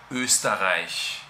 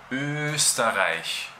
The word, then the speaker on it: Österreich: O por ejemplo, el nombre de mi país natal, Österreich. Voy a escribirlo aquí. Österreich, Österreich.